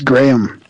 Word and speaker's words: Graham: half the world but it's Graham my graham cracker as in Graham wafer yeah yeah so howhow